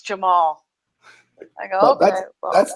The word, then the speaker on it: Cemal: Jamal! Yes, that's how you pronounce it. Priscilla corrected me. I was like, Jamal. She goes, no, it's Jamal.